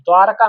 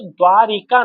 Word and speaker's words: द्वारका: वृंदावन नहीं द्वारका नहीं मथुरा नहीं बरसाना ठीक है द्वारका स्पेलिंग देख लीजिए हिंदी भी है ना आपके में तो द्वारिका नहीं होता है द्वारिका नहीं होता ये गलत है क्या होता है द्वारका होता है द्वारका द्वारका होता है